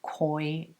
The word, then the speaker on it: CQY: And I bought a pair of koi denim. It's actually CQY denim, but they actually pronounce it as koi denim.